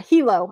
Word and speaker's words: Hilo: Hilo.